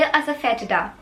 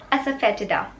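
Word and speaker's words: asafoetida: This can be a little tough to pronounce. इसको आप English में कहेंगे असफेटिडा, असफेटिडा।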